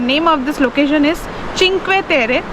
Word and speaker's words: Cinque Terre: The name of this location is चिंक्वे तेरे। इन Italian it's pronounced चिंक्वे तेरे।